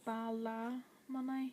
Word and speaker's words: Ballymoney: So it's Ballymoney, and it's all one word. But whenever you're pronouncing it, you would say Ballymoney, so you would say an A instead of a Y.